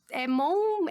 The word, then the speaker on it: Mont: Mon, é T mudo, mas tem o T no final, então é Monte, né, que se escreve.